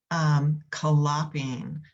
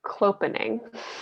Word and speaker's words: clopening: I think it's clopening. Clopening, thank you. I don't know why I say collaping.